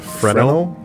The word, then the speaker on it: Fresnel: Oh, the S is silent? Is it Fresnel?